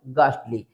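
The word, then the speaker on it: ghastly: गास्टली ठीक है sorry इसको रीड करेंगे हम गास्टली तो समझ में आ गया अब देखें अगर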